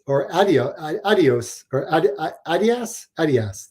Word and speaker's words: Adidas: That's how you guys pronounce it over there. That's the correct way of saying it. Adidas is the way we say it here in North America, but Adidas is how you pronounce it.